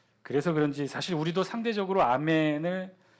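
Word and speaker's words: אָמֵן: 또 영어권이 있는 사람들이라 저걸 히브리어로 그대로 아멘으로 안 읽고 자기네 습관처럼 뭐라고 읽어요 에이맨 이렇게 에이맨 그런데 저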